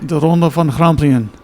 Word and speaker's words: De Ronde van Grampian: So we had, actually, I'm going to pronounce it Durande van Grampian, but we need Raymond to pronounce it real quick. De Ronde van Grampian. And so it's a Dutch name, and so Raymond speaks Dutch.